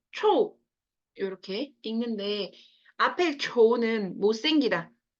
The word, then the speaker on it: 臭: 자, 얘네는 둘 다 발음이 초거든요. 앞에는 삼성이고 뒤에는 사성이에요. 초, 초 이렇게 읽는데 앞에 초는 못생기다 라는 뜻이고 뒤에 초는 취두부 할 때 취자죠.